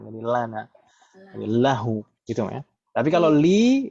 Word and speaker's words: lahu: Karena kalau dipaksakan pakai kasroh itu berat untuk diucapkan. Lihu, aduh, kita aja berat.